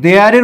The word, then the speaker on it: there: see there, I can দেখো আমি কিন্তু দেয়ারের উচ্চারণটা এই রটাকে বাদ দিয়ে বললাম দেয়া। I can see there is a fish in the jar. দেখো এই যে যখনই শেষে র থাকবে এই রটাকে আমরা গোপন রাখবো।